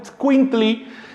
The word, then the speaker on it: itzcuintli: Pero en náhuatl es itzcuintli, con pronunciación débil de la primera i, casi como si dijera itzcuintli, así.